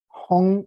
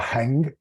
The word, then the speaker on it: Heng: So the mantra is Hung. It's spelled H-E-N-G, but it's pronounced Hung, okay? Hung, like H-U-N-G. It's not hang, it's Hung, Hung, Hung, Hung Jin Dan.